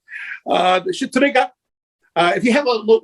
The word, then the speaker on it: Shtriga: So the areas of Albania, you're going to have folklore, and it's spelled Shtriga. So it is Shitriga. It sounds like something else. I'm sorry. There's no other way to say it, right? Shitriga.